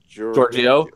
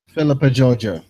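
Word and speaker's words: Philippa Georgiou: Giorgio.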